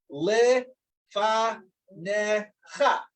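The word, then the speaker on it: לְפָנֶיךָ: So the example is this is le fa necha. So you're not pronouncing the yud, but just le fa necha. The yud becomes silent, such a scenario.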